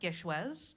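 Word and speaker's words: GISHWHES: So this year's going to be my 4th Gishwez.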